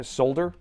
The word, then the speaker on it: solder: Solder? It just feels weird, because I've always said solder. But I also don't pronounce the H in herb, because I don't say herb, I say herb, right?